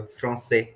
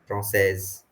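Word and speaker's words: français: काम कर सकते हो फ्रसे फ्रसेस जो आप फ्रोंसेस बोल रहे हो ऑन जो न साउंड को प्रोनाउंस कर रहे हो ना इसको खा जाओ भूल जाओ फ्रेंच प फ्रोन सेज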